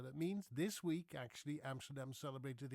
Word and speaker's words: Amsterdam: And I pronounce Dutch words names the way a Dutchman would pronounce it. That would be me. Okay. Amsterdam. First of all, we don't say Amsterdam in the Netherlands. Then we say Amsterdam.